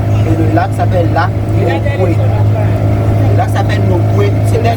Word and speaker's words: Nokoué: Et le lac s'appelle lac Nokwe. Le lac s'appelle Nokwe. C'était Nokwe, oui. C'était Nokwe. Et Nokwe c'est habitat de maman. Quand on dit non, c'est maman. Voilà, on disait Nokwe.